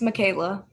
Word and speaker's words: Michaela: Yeah, you're saying it right. It's Michaela.